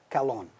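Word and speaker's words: καλόν: And to is Greek for the, and kalon is the neuter of kalos, the beautiful, to kalon. Both times, one lambda, accent on the second syllable.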